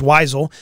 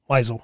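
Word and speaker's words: Wyzowl: spell this because it's hard to say is weisel but it's spelled w y z o w l weisel it's how it's pronounced it and what the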